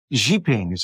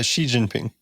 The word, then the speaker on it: Xi Jinping: know and and you're the quote about uh Xing that's what you say it right uh Xi Jinping Xi Jinping yeah look the guy from South